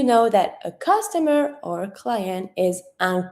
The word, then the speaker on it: client: Okay, so you know that a customer or client is un client. Don't pronounce the T, un client.